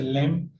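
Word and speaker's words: lamb: इसी तरह से लैम्प, इसमें बी जो है वो साकिन रहेगी और लाइट में GH जो है उसकी प्रोनाउंसिएशन नहीं आती।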